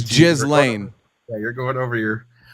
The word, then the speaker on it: Ghislaine: It's pronounced Ghislaine. I just want. It's Ghislaine.